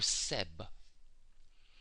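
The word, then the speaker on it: Geb: a goose on his head his name is pronounced GB or Seb this is very important because what I'll put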